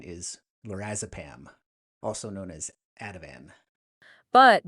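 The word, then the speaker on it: lorazepam: as far as I understand it the correct pronunciation is lorazapam also known as Adavan but BNC 210 potentially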